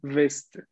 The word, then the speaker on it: veste: Atención, es veste. Y recuerden en general la pronunciación, por favor, hay que acordarnos la parte de la fonética que vimos. V, beaucoup, V, violet, beaucoup, violet, B, V. ¿D'accord? Hagamos la diferencia, por favor, al momento de pronunciar.